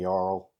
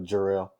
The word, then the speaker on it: Jarrell: Oh yeah, he was like saying Jarl instead of Jarrell. Yeah, exactly. And he's like, why you keep mispronouncing my name? Why you be doing that? It's Jarrell with a J.